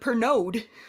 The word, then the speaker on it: Pernod: Not drinking the pernode. The D is silent.